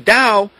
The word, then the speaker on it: Tao: Similar to the impersonal god force of pantheism and Hinduism, the Dao or TAO is how it's spelled is composed of the conflicting opposites, the